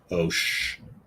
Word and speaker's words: Ocean: You do realize that in that the Pacific Ocean, those two words, every C is pronounced differently. Okay. Pacific. Ocean.